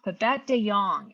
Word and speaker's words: Babette de Jongh: Babette de Jongh, and it's spelled D.